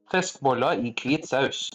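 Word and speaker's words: fiskeboller i hvit saus: So number 8, fiskebolle I hvitsaus. Oh, you almost said it right. I mean, Or- that almost sounds like English, just with a bad accent. Fiskboller I hvit saus.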